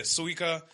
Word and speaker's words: Suika: well we already knew suica was good am I pronouncing that right yeah that sounds that sounds better that sounds more Japanese yeah suika and uh we found